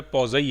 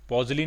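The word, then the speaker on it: poiseuille: पॉजली नहीं कहते हैं इसको, पॉजई कहते हैं। पॉजई प्रोनाउंसिएशन है, फ्रेंच टर्म है, और पहले कुछ वर्ड्स ही बोले जाते हैं, आखिरी के पहले कुछ लेटर्स ही बोले जाते हैं, आखिरी के लेटर्स का कोई प्रोनाउंसिएशन नहीं होता, ठीक है।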